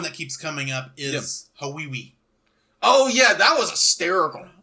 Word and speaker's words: Hawaii: was going to paradise and Hai that's pronounced Hawaii oh whatever and then later